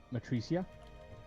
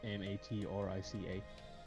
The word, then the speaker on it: Matrica: That should be Matricia, Matrica.